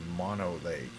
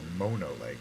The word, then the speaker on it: Mono Lake: airport over here and that's Mono Lake or Mono Lake I Believe sometimes it's supp I think the correct pronunciation is mono it's like an Indian name or something anyway how is everyone